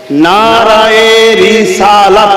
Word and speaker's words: নারায়ে রিসালাত: উচ্চারণটা হবে রিসালাত, নারায়ে রিসালাত।